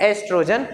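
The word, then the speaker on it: oestrogen: एस्ट्रोजन। ओ यहां पर silent होता है। एस्ट्रोजन। कभी-कभी ओ भी नहीं लिखा जाता। सीधा ई से नाम आता है।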